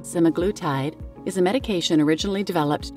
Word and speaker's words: semaglutide: up some videos in every other video is pronouncing it semaglutide and even the dictionary so please ignore my